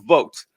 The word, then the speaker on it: Vought: to well what you were discussing with Russell vot yes you're cor you're correct his name is actually Russell vote that it's VA it is